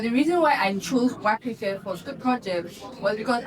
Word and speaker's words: Wakirike: So, when the white man came, he could not necessarily pronounce Waka K. So, he called it Opobo.